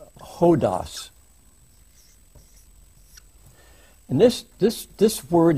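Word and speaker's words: ὁδός: just put up one Greek word this is pronounced ho DOS and this this this word is kind of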